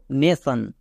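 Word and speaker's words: nation: চ হলো নেক্সট দেখো নেশন নেশন নেশন মানে কি জাতি জাতি মানুষকে বোঝাচ্ছে না তাই মানুষ যেহেতু বোঝাচ্ছে না তাই এখানে আমরা টি আই ও এন সন উচ্চারণ করলাম তাহলে কি দাঁড়ালো নেশন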